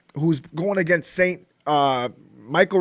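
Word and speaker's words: Mychal: last week um even michelle rivera who's going against saint uh michael rivera actually his name is but it's spelled weird spell like michelle i call him michelle sorry michael rivera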